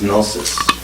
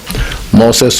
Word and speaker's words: gnosis: Then you pick up which is better word, gnosis or wisdom. Gnosis. Yeah. Am I saying it right? Gnosis? Yeah. Gnosis is better.